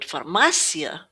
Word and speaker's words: farmácia: So, if we listen to the word farmácia, we can hear that first A is kind of not as sharp as this A here. It's almost not as recognizable. It's like it's been removed almost.